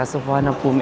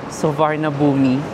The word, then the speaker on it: Suvarnabhumi: So kakarating lang namin dito sa Sofan Pom airport. And actually guys medyo nalito din ako sa pronunciation niya because yung spelling niya parang suvarnabi. So sabi nila isapom airport.